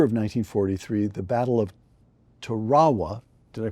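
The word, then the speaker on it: Tarawa: In November of 1943, the Battle of Terawa. Did I pronounce that correctly? Terowa.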